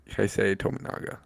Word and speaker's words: Keisei Tominaga: Kisi Dominiga. How do you pronounce it? Keisei Tominaga. Keisei Tominaga. Tominaga. You were walking a fine line there for a second. Yeah, okay. Keisei Tominaga.